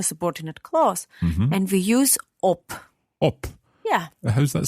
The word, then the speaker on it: ob: to op yes it's when it is a short vowel before the last consonant then the consonant has a hard pronunciation for example rat at